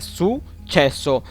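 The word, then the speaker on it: successo: सुचेसो, सुचेसो, इसको ऐसे प्रोनाउंस करना है सुचेसो।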